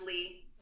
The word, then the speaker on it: Leia: It's just pronounced Lee.